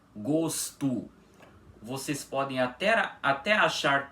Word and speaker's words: gosto: Porque vocês podem reparar que nós não pronunciamos menino gosto com a letra O com som de o mesmo, um fechado, o invés disso, pronunciamos com som de u. Assim, menino gosto.